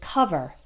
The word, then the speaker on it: cover: I take it back sometimes the O is pronounced like that even when it's in a stressed syllable so it like the word cover the oh it's an O but we don't take over or call vert we say cover uh-uh cover other also